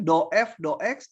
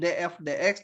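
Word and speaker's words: ∂F/∂X: Bacanya ini do F, do X, do F, do Y. Jangan DF, DX, DF, DY ya.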